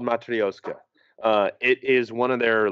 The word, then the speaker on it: Matryoshka: Matryoshka. Yeah. Matryoshka. It's a hard word to say. They have a beer called Matryoshka.